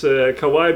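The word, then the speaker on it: kawaii: kind of interesting because in Japanese it's Kawai being cute but when you say Kawai it's scary so it's a c why or something like that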